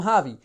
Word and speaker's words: Javi: to remember your name hi I'm javi you say with an H you spell it with a J boom coaches are gonna